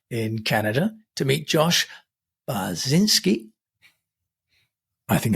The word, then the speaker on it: Bachynski: Josh binski I think I probably said your name wrong haven't I Josh I'm G do that again that's that's the Polish pronunciation that was actually perfectly correct in in the Ukrainian polish pronunciation yes oh okay I'm